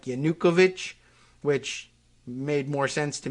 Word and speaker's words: Yanukovych: Netflix and I guess he says yanukovic which uh I didn't know but okay that's the pronunciation so according to these